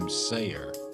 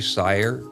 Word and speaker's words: Seyer: It says, just re-recorded because I pronounced your name Seyer. Oh, yeah. That's a common mistake. But it's actually Seyer. Rhymes with fire. It's like Meyer, Bayer, and Geyer.